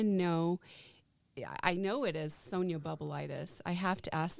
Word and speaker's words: Sonia: yes yeah yeah i like that no it's sonia actually the way it's pronounced as well sonia is it sonia in